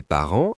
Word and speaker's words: parents: Mes parents achètent beaucoup de livres anciens. Analysons ensemble. Mais, S muet. Parents, S et T muet.